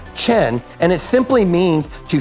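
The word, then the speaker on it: חן: to our heavenly father grace in the book in hebrew is the word that we pronounce chen and it simply means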